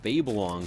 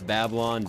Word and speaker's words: Babylon: Maybe like a Guppy's Paw Whore of Babylon combo. And I know it's Babylon. Don't fucking tell me in the comments, hey, you pronounced Babylon wrong. It's not like babe, it's like Babel.